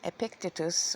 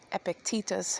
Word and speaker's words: Epictetus: There's Veritas, which is sayings of Plato, Socrates, Marcus Aurelius, and Epictetus, or Epictetus, however you want to pronounce it.